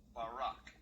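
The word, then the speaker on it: בָּרָק: a gleam, a flashing sword, or a brightness or a glittering, the Hebrew word is barak. So lightning, or a flash of light, in Hebrew is pronounced barak or barak.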